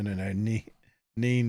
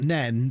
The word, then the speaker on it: Nene: Neen like men. No, because I'm from Peterborough, so I say it like a normal human. It's Neen, not Nen, because I can read and speak. These Northampton folk are a real problem with this Nen nonsense.